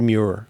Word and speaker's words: Muir: he has a feeling about is that David Muir from ABC News is hot.